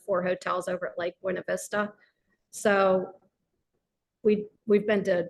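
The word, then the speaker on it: Buena Vista: 2025 I can't wait Lake buav Vista I know buav Vista oh sorry I'm even saying it wrong that's okay but anyway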